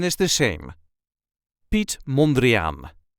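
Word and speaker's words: Piet Mondriaan: pronunciation is the same Pete mandrian there is a slight emphasis on the first syllable of the last name Pete mandrian pet monan pet monrean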